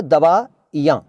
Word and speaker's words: दवाइयाँ: तो गलती जान लीजिए, सही शब्द है दवाइयाँ। दवा लिखिए छोटी ई, छोटी ई, बड़ी नहीं, छोटी ई। असल में छोटी बड़ी कुछ नहीं होता, ई होती है और ई होती है। तो दवाइयाँ, यहाँ पर चंद्र बिंदु, दवाइयाँ, दवाइयाँ नहीं, ठीक है।